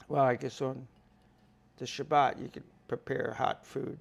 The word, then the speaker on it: Shabbat: as soon as it's Sabbath Shabbat is how you say it in Hebrew soon as this Shabbat